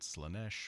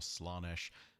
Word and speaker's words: Slaanesh: The pronunciation of the last god of chaos's name, be it Slaanesh or Slaanesh, varies, but undoubtedly there is one fact that does not.